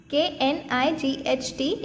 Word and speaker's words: knight: Remember here K is silent. K-N-I-G-H-T is the spelling of knight word.